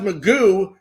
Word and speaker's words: McGough: I mean, Scott, is it pronounced Magoo? I pronounced yes. Yeah, McGow.